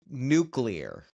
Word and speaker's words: nuclear: yeah, nuclear. Right now, nuclear is a very easy word. If you look at it, you can break it into two words. Right, Right. nu, new, and clear.